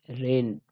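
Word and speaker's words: reigned: इसमें साइलेंट होता है अ इसमें जी साइलेंट है आप देख रहे हैं ठीक है इसको रेन पढ़ते हैं रेन आईजी साइलेंट है इसमें ठीक आईजी साइलेंट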